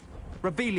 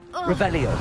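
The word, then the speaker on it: Revelio: place where are you rebelia you're saying it wrong rebello reelo much better oh shut up wait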